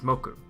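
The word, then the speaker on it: 木: So here we use the tree pronunciation for this, ki, instead of the day of the week pronunciation, which is moku.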